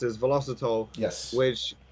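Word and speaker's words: Velositol: And over the past year or so, you might have seen an ingredient called, I think it's pronounced as velocitol.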